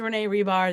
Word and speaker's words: Hribar: So if we haven't met yet, yes, my name is Renee Hribar. The H is silent.